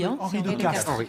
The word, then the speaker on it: Castries: Ben, on dit Henri de Castres, ma chère. On me dit Henri de Castries. Non, c'est de Castres. Ça. Ben oui, on prononce de Castres. Oui, c'est ça. C'est les noms aristocratiques. N'écoutez pas les voix. Seule l'aristocratie le sait. C'est l'aristocratie qui avait une prononciation spéciale.